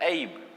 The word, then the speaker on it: ऐब: ऐब, अगर आप में कोई कमी है तो मम्मी या पापा कहते हैं ऐब, ऐब होता है, तो उसका करेक्ट प्रोनाउंसिएशन होता है ऐब।